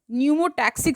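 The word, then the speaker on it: pneumotaxic: Another centre in the Pond's reason of the brain called न्यूमोटैक्सिक centre ना, इसमें P silent है, can moderate the functions of the respiratory rhythm.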